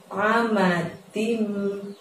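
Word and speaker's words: عَمَدٍ: Lalu ada lafadz amadim. Ada amadim pakai ain, jadi dari tenggorokan saja mengeluarkan huruf A-nya.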